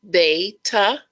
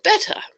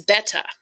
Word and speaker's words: betta: all we are going to settle how you pronounce the word betta do you say beta or betta well I've done a lot of research on this and actually the correct correct pronunciation is betta so I am still learning how to do